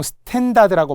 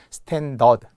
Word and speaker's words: 스탠더드: 어이의 탭입니다 스펠링이 다르죠 스탠더드 표준인 종종 스탠다드라고 많이 하죠 은행 이름에도 뭐 스탠다드 차타드 SC 뭐 이런 거 하나 돼 스탠다드 아니에요 스탠더드 스튜어디스 스티로폼 이죠 이걸